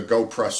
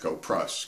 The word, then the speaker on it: Goplus: u s but but it's pronounced go prus because it's Chinese um so that's what